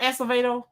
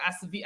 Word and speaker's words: Acevedo: Are we gonna talk about Art Acevedo?